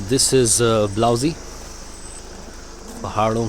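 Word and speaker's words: Blausee: Hello guys, finally पहुंच चुके हैं ब्लाउजी, और ये प्रोनाउंसिएशन ब्लाउजी है।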